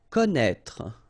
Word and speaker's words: connaître: pronounce it, okay, so don't be afraid by this accent circonflexe because you won't pronounce it.